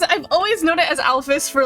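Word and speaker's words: Alphys: in front of uh Alfus. Another random question. Do you guys pronounce like what? I pronounce it alfus, but other people pronounce it alf. And I think that one's technically supposed to be correct, but how do you pronounce it?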